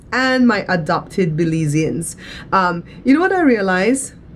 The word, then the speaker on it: Belizean: Belizeans and my adopted Belizeans. You know what I realize? You know, our name for the people of Belize is Belizeans, right? And along the way, a lot of Americans say Belizean.